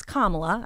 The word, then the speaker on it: Kamala: I know how to say it now it's kamla I've got it down I've got it right